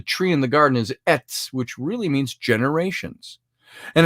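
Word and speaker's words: עץ: hebrew word for that tree is the word pronounced ets if you spell it phonetically etz it's a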